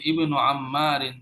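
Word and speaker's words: ابنُ: প্রথমে থাকলে উচ্চারণ হবে, প্রোনাউন্স হবে। এটা কত নাম্বার ছিল? নাম্বার 7। দেখো এখানে কিন্তু প্রথমে আছে, উচ্চারণ হচ্ছে ইবনু, আইটা উচ্চারণ হচ্ছে ইবনু আম্মারিন তালিবুন, আম্মার সন ইজ এ স্টুডেন্ট।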